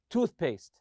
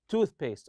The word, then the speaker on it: toothpaste: are compound nouns and we stress the part of the tooth you say toothpaste toothpaste or toothbrush lastly here I'll look